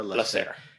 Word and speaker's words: Lasserre: And then how do you pronounce Lesser? Lesser.